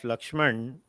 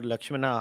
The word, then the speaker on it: Lakshmana: Understanding the character of Lakshman or Lakshmana, however you want to pronounce it. South Indians might say Lakshmana, North Indians might say Lakshman.